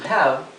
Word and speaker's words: have: Pero acá está la pronunciación en español sería to be, y to have. Recuerden, sin embargo, que la H inglesa no es totalmente muda como la H del castellano, sino que es como una exhalación.